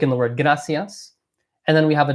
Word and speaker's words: gracias: So in gracias, you kind of want to pronounce it similar to a very soft D, like the letter D in English. So if anything, it's actually closer to, it's not a GR.